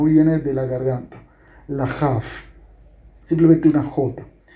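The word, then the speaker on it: כ: Sin el punto se refiere a una jaf. Fíjate la pronunciación. Jaf es como una jet, pero la jet es aspirada y es gutural. La jaf sí es una jota que no es tan, no es gutural, no viene de la garganta.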